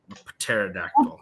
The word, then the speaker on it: pterodactyl: them to extensions pterodactyl pterodactyl the pterodactyl had pneumonia oh it's got a silent p in there there's a silent W